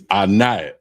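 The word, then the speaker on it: עֵנָב: Uh first word is grapes and it's anab. And it's spelled I N A B I N A B.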